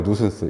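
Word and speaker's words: nuisance: 누슨스라고 읽어요. 누슨스.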